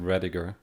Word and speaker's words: Rediger: Well, I would here in America you would pronounce it Rediger.